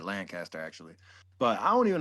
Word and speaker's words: Lancaster: Lancaster?